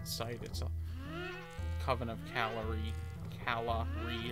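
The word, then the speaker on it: Calahre: itself coven of calorie calorie of course it's spelled like c-a-l-a-h-r-e so it's like oh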